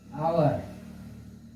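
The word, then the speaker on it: hour: अब हावर मत पढ़ देना, आवर। आवर मीन्स घंटा, आवर आवर आवर मीन्स घंटा। इसको शांत कर दिया गया है, साइलेंट हो गया है, ठीक है।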